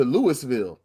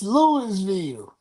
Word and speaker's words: Louisville: You lost at home to Louis to Lewisville. I'mma say it wrong on purpose. It's Louisville.